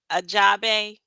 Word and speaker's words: Ajabe: And she told me, how do you pronounce her last name? Ajabe? Yeah. Is that right?